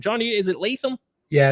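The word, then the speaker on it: Latham: did I nail that name Johnny is it leam yeah it's JC leam uh Blue Chip Prospect coming out you know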